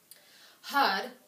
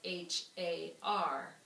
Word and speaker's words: Har: and then spell it h-a-r so when you read it you think har but that's not it it's ha with more like h-u-d is often how i think of it when hud starts